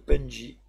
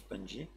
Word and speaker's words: Pungi: a ici le Data le Penji mais je pense que ça se prononce punji et le Crazy steam